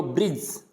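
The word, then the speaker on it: bridge: डी आ रहा है, तो इस डी को क्या करना है, अपने को साइलेंट रखना है। ब्रिज, क्या पढ़ना है, ब्रिज।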